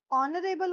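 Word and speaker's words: honourable: नाउ ऑनरेबल होता है आपके पास। एच इज़ साइलेंट आपके पास।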